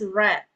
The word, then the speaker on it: read: So, you pronounce that as red.